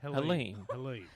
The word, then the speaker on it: Helene: Helene. See, it's spelt Happens every Helene, gig.